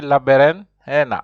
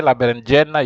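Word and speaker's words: berenjena: so repeat after me laber Hana h j is pronounced like H that's why you say you don't say labera you have to say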